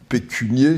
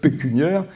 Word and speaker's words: pécuniaire: 30 ans puis après on vous explique que pécunier ça n'existe pas puisque ça s'écrit aux c'est et masculin et féminin donc j'ai un problème pécuniaire mais pas un problème pécunier m'a fait répéter cinq